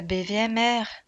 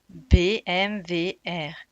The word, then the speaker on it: BMVR: Non, pas BVMR. BMVR. Il faut bien prononcer.